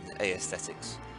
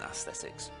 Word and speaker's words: aesthetics: And yes, I do pronounce the E in aesthetics. I think it sounds better than aesthetics.